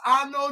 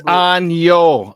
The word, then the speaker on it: año: And I'd like to say Feliz Ano Nuevo. Now, I got it right, Sean. I think. I know you butchered it up. It's año. It's año, not ano.